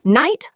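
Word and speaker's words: knight: No, Brad, the K is silent. You do not say it. Just say night like nighttime.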